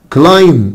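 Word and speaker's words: climb: كلايم خلي بالكوا حبايبي ان البي سايلنت، كلايم يعني يتسلق، اقول كلايمد كلايمد.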